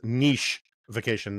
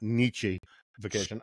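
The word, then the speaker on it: nichification: and nich ification uh that's Niche vacation not nich vacation of of of highed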